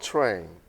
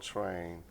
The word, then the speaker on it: Trane: It's called Train. Yeah. That piece is called Train. We spell it Trane.